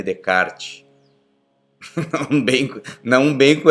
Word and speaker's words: Descartes: é sobre o Renê Decart, né? Falam que o que é que o se se lê se escreve Descartes, né? Mas ele é um francês e se fala Renê Decart.